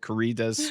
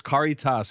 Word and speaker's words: Caritas: I've been mispronouncing. I think I called it Caritas before, but it's Caritas.